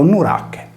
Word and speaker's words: Nurache: il cui nome era in origine scritto nuracha e pronunciato nurak Da ciò si evince